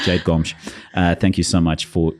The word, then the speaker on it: Gomes: Jade, Gomes, thank you so much. Or should I say Gomes? I think it's much better. I should say it properly. Jade Gomes.